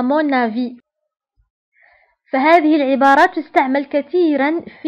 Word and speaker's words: avis: À mon avis. فهذه العبارة تستعمل كثيرا في التعبير عن الرأي. À mon avis تعني في رأيي. في رأيي. À mon avis. وانتبهوا هنا، avis تكتب بS في الفم ولكن لا تنطق.